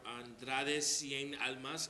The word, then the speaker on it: Andrade Cien Almas: And as of right now, the NXT Championship match on Andrade Cien Almas.